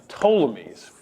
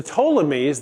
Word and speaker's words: Ptolemies: Silent P at the end, the Ptolemies. And it is the Ptolemies that become the rulers over Judea.